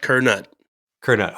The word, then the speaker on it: Curnutt: say your last name kette Kut yep just like it's spelled kerut Kut okay let me uh